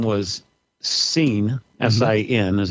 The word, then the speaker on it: Sin: Okay, so the moon god's name was Sin, S-I-N is how we usually pronounce it.